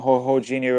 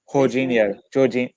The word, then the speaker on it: Jorginho: I think Jorginho will play again if Partey isn't fit, and Shakhtar. Wait. Say his name again. Jorginho. Is it Jorginho or Jorginho?